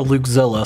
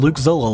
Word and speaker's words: Luukzilla: Luke, it looks like you would pronounce the E, like Luukzilla.